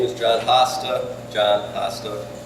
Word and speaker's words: Hosta: is John Foster John Pastor it's spelled h-o-s-t-a like plant I have a ba